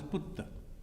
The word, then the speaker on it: Putta: Putra, and in this pronounced as Putta.